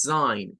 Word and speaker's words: sign: No vayamos a decir algo como sing, es sign. Y nótese que la G no interviene, o sea, solo hace el sonido. La S, la I larga que es I y la N.